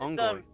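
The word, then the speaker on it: unggoy: It's Ungoy. Filipino. Filipino. Like, for monkey.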